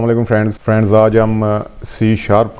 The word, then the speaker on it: C#: हस लिखा हुआ है इसको जो हम प्रोनाउंस करते हैं वो सी शार्प प्रोनाउंस